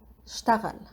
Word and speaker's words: اشتغل: اشتغل. We don't really pronounce the e, اشتغل, at the beginning in Lebanese. It's kind of silenced.